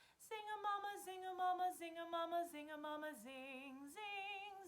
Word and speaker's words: zinga-mama: And so we're going to be really, really pronouncing all of the words. And the words we're going to be saying are zinga-mama.